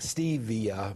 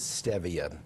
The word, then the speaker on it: stevia: People see the word because it looks like stevia, but the correct pronunciation is stevia.